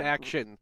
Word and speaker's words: AXN: Speaking of best AXN, Best action. It's pronounced best action.